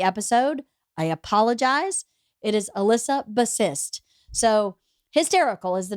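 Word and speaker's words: Elissa Bassist: recommended call Hysterical by Alyssa bassist I terribly mispronounced her name in the episode I apologize it is Alyssa bassist so hysterical is the name of the book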